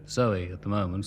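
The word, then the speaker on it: Zowie: It's called Kooks and celebrates the birth of a baby on Sunday called Zoe at the moment, spelled, of course, Z-O-W-I-E, to rhyme with Bowie.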